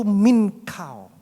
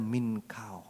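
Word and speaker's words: מנחה: Ibrani mengucap syukur itu minkau minkau bacanya tulisannya mincah Tapi bacanya minkau Ya terjemahan yang sama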